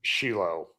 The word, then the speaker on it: Shiloh: That's Shiloh. Shiloh is how you say it. But if you say Shiloh, everybody knows what you're talking about.